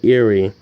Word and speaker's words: Erie: Pittsburgh with Lake Erie Lake Erie actually is it enough every are you are I because I've heard some people in documentaries pronounce it eerie and others now say you are I am pretty sure it's eerie though because people from here pronounce it that way anyway it starts at